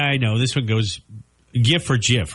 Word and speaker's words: GIF: played off of that it's supposed to be GIF not GIF really I've never heard most people say GIF and that drives me nuts really it does I'm